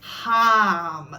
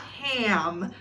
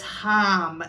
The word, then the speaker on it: Ham: that is pronounced so it's harm not ham ham so if you guys are actually doing or using the mantra in this just remember that it's harm not ham which is